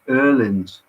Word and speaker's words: Öhlins: Nobody knows this, and a Swedish person, a Swedish person has corrected me. It's Öhlins.